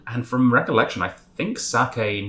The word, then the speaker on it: sake: and i've also realized i've been like americanizing my pronunciation of that word quite dramatically from recollection it's actually sake but i'm sure um